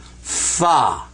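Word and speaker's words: فاء: That's called fa. Fa. Do, re, mi, fa.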